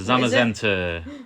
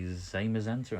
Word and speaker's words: Zamazenta: The Zamazenta, that's how I pronounce him. I think you across from the pond may say Zamazenta, I don't know, but Zamazenta to me.